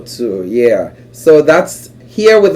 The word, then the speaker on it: Otu: It's pronounced Otu. Otu, yeah.